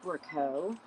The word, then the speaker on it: Brichot: I want to say it's pronounced Brichot. It's Brichot, and they're really super cool.